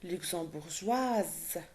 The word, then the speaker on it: luxembourgeoise: Mia est luxembourgeoise. Here I have to pronounce the S because I have une voyelle à la fin. Une lettre voyelle à la fin, c'est E.